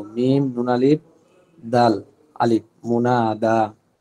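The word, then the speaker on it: منادى: করা হয়েছে ওই ব্যক্তিকে মুনাদা বলে। মুনাদা, মিম নুন দাল আলিফ হামজা, মুনা, মুনাদা, এই না হামজা নাই, মুনাদা দাল আলিফ হবে, মুনাদা, মুনাদা, মুনা, নাতে টান আছে কিন্তু, মিম নুন আলিফ দাল আলিফ, মুনাদা।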